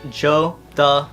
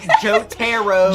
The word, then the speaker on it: Jotaro: And I was like, it's Jotaro. Yeah. Ro, not Ro. No, Jotaro. Jotaro. Jotaro Kujo. If you say it like that, you're good.